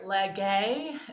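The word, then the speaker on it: λέγει: time in the bible lego or legay with an epsilon iota ending is like he or she said so that's all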